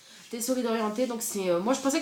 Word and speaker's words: Tessori d'Oriente: Donc je pense qu'il faut le prononcer à l'italienne. Tessori d'Oriente.